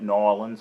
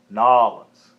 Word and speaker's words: New Orleans: how you pronounce it I like calling it norleans I think that's how they say it down there so it's not our one's not New Orleans nawlins and I get into